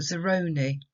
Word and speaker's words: Zeroni: myth Madame Zeroni distress falls in that middle syllable on the Obed it's a Zeroni like and we can link it to work